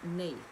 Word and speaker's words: Neith: and what evolved from her the egyptian goddess nate and it's spelled not spelled like that at all it's